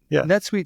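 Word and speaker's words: NetSuite: refresh it uh Rhymes rhymes with wet suit kind of it doesn't it doesn't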